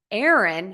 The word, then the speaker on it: Aaron: has three syllables Aaron has two syllables Aaron so that's a